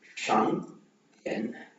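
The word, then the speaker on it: 商店: D sound வந்தா த THEயோட அந்த sound use பண்ணுவோம் அப்படி. ஸோ அப்படி பார்த்தா இங்க நம்ம எப்படி ப்ரொனவுன்ஸ் பண்ணோம்னா SHANG ஷாங் தியன். டிஎன் அப்படின்னு சொல்ல மாட்டோம். நம்ம இங்கிலீஷ்ல ப்ரொனவுன்ஸ் பண்ற மாதிரி டி சவுண்ட் அவ்வளவு ஸ்ட்ராங்கா ப்ரொனவுன்ஸ் பண்ண மாட்டோம். இது THE சவுண்ட்.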